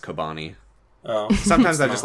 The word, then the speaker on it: Chobani: it's pronounced You know what I Kobani.